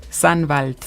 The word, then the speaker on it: Sannwald: ¿Cómo pronuncia correctamente el Sandwald? Sandwald.